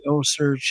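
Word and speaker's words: OCEARCH: I would say O-Search. Osearch with a C.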